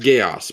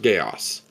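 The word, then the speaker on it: Geas: g e a Gees yes G yes it's pronounced gaos by the way it's pronounced gaos dude that's not what you're saying you're you're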